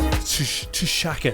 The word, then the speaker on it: Tshaka: Tshaka Campbell there, and that's spelled not like Shaka Khan, that's spelled like Tshaka, so Tshaka.